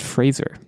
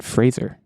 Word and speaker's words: Fraser: I'm generally a Brendan Fraser fan, which, by the way, it is pronounced Fraser. I was watching an interview recently. It's not Brendan Fraser, it's Brendan Fraser.